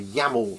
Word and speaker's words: YAML: The file extension is .yml, just to further confuse you, but they're actually YAML, YAML files. And here those comedians go again. YAML stands for YAML ain't markup language.